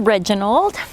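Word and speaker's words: Redginald: His name is Reginald. It's spelled R-E-D-G-I-N-A-L-D, so that I can call him Reggie, and it will be like edgy, but with an R.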